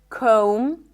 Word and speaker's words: comb: When there is MB, especially at the end of words, the B is not pronounced. So in words like limb, climb, no B, bomb, no B, crumb, plumber, comb, there is no B whatsoever.